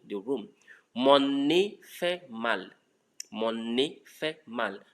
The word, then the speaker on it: mal: Mon nez fait mal. And when you look at the mal, that's one of the exceptions I told you 90%. Mon nez fait mal. That one has the last consonant pronounced. Okay.